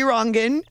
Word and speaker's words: Rongen: him on twitter at t rangan ro n GE and although i know that's our American pronunciation and not his Dutch pronunciation he's now with CBS